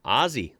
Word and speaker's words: Aussie: It was, has, and always will be pronounced Aussie, like Aussie Osborne.